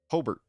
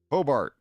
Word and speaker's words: Hobart: Hobart Hobart. No, it's like robot.